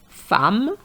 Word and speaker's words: femme: enough des œufs un os des os neuf neuf ans So now some irregular pronunciation femme and not femme femme which is a woman seconde So the